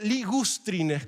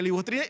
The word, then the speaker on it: ligustrine: Siempre dije libustrine y lo puse libustrine porque así lo digo. Pero se escribe correctamente, se le escribiría ligustrine.